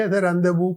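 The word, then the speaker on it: rendezvous: problem हो सकती है ये रव अक्सर आप देखि रदेव पढ़ेंगे और जब लिखा होगा र ज वस तो इसको ऐसे तो इसके नहीं हम पढ़ते हम रदेव पढ़ते हैं मीटिंग और अपॉइंटमेंट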